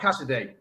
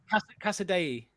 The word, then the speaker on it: Casadei: No, it's not Cassidy. Yes, it is. Casadei. Yeah. It's like House of the Day in Spanish.